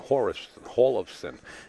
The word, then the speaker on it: Hjorleifson: Erik says kind of hard to pronounce, but Hjorleifson, I said Hjorleifson or Hjorleifson?